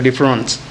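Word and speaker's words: différance: Now as we are speaking, let us use a French pronunciation to signify difference with A. So difference.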